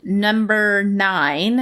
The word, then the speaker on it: NMBR 9: Well, the next game that I want to talk about is called Number 9, and it's spelled NMBR 9, the number 9, not the word 9.